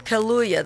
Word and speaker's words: Kaluuya: And Daniel, how you pronounce his last name? Kaluuya, the guy that played the lead in Get Out movie, he's in The Widows as well.